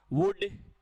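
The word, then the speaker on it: would: हाँ शाबाश, तो विल का पास्ट वुड, शैल का पास्ट शुड, कैन का पास्ट कुड, कुल्ड नहीं होता, वुल्ड नहीं होता, शुड नहीं होता है, एल साइलेंट है।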